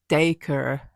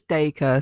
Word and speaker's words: Dacre: Okay, he says it as Dacre. Akashima Island. He says it as Dacre, so that might be like an Australian specific pronunciation.